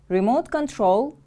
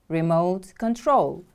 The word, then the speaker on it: remote control: screen a remote control remote control is a noun it is a device or mechanism for controlling something from a distance remote control the stress is on the second syllable repeat after me please